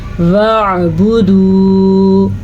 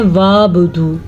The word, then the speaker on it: وَاعْبُدُوا: زیر کے ساتھ ہے، وَاعْبُدُوا آئین کے تلفظ کا خاص کیا رکھنا ہے. میری اپنے ہی کئی سارے اسٹوڈنٹ ہیں وَاعْبُدُوا کو پڑھتے ہیں وَابُدُوا، یہ بالکل غلط ہے.